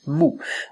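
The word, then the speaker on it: 木: ça par exemple ce caractère là il se prononce Mo la logique voudrait que deux fois le même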